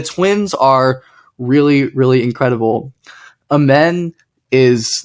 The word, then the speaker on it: Amen: at two to the Hornets then you have Amon Thompson or is it amen amen amen Thompson amen amen okay I have a friend named Iman so